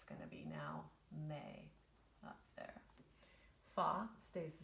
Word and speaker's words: me: into a different syllable the syllable is called may and it's spelled m-e because it's italian me is gonna turn